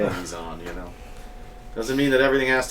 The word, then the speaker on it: Meson: By the way, kudos for pronouncing Meson correctly. You like that? I say Messon, and I'm totally wrong, and I know I'm wrong, but it's still how it says in my head.